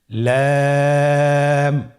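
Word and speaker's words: لام: লাম হরফটি উচ্চারণের ক্ষেত্রে অবশ্যই বারিক হবে এবং 3 আলিফ টেনে পড়তে হবে। আপনারা আমার সাথে বলুন লাম। লাম হরফটির মাখরাজ হলো জিহ্বার আগার কিনারা উপরের দাঁতের মাড়ির সঙ্গে লাগিয়ে উচ্চারিত হয়।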